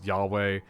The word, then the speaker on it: Yahweh: closest pronunciation that i can give you is yahweh yes it is spelled as a uh it's like the tetro